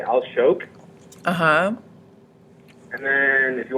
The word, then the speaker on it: Alshowk: pronunciation please well I in English I would just say aloke uhhuh and then if